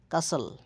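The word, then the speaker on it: castle: যেমন হুইস হুইসেল হুইসেল কাস্টল কাসাল হাসেল টির উচ্চারণ হবে না এখানে টির উচ্চারণ হয় না।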